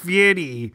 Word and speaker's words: Fieri: Wait, it's pronounced Fieri.